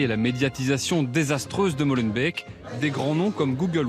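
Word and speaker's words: Molenbeek: compris pour la prononciation on dit pas Molen be mais Molen B Molen B d'accord voilà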